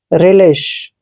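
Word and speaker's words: relish: दोस्तों यहाँ पे ई की जगह हम आई लिखेंगे, ठीक है। आर का उच्चारण रे करेंगे और ई को ई की मात्रा पढ़ेंगे। एल का उच्चारण दोस्तों ले करते हैं, यहाँ पे आई पढ़ना है, ध्यान रखिए आई, ठीक है, और आई को हमने ई की मात्रा पढ़ना है। SH का उच्चारण शे करते हैं।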